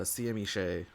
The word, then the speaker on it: CMEshai: as their health totals are concerned but uh cme shay and apparently that is how you pronounce the name i did confirm that last